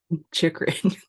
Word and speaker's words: Chychrun: Chychrun.